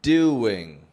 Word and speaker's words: doing: How about doing? No W spelling in there, but I'm hearing a W sound. Can you hear it?